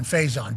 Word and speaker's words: Faison: Okay, so not Pison, Faison, but it's spelled like Pison, I do believe, but with an F.